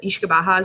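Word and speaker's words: uisce beatha: It's kind of written similar to like Uski Betha, but Ishkabaha is the pronunciation.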